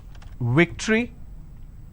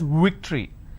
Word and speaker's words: victory: the word which is victory they pronounce this as victory now remember what i said if you have the letter v you need to bite your lower lip it's victory and if it's w